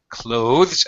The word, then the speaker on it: clothes: However, I will tell you that most English speakers actually pronounce it just the same as this verb over here, clothes. Clothes. I am wearing clothes. We simplify or reduce pronunciation because it's hard for us to say. It's a difficult combination.